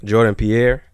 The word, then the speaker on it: Jordan Pierre: we are here man we back with Jordan Jordan Pier is am I pronouncing that right yeah okay solid solid listen